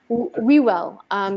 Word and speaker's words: Whewell: Whewell, W-H-E-W-E-L-L. W-H-E-W-E-H. Yeah. I may be pronouncing it wrong.